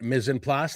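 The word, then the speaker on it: mise en place: Mizen Plas, that's how you say it. That's how you pronounce it.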